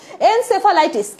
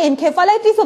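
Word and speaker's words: encephalitis: এইচআইভি একটা retro virus, corona একটা retro virus, এনসেফালাইটিস, এনসেফালাইটিস এটাকে এনকেফালাইটিসও বলা হয়, এনকেফালাইটিসও বলা হয়, উচ্চারণ যে যেভাবে করে।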